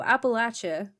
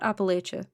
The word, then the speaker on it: Appalachia: lot of it you know our explanation so Appalachia not Appalachia Appalachia okay as okay do you remember the